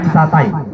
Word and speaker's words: satai: Misalnya satai. Kata bakunya satai, tapi karena ada A dan I di belakangnya, kita bacanya jadi E, jadinya sate. Orang tanya sate.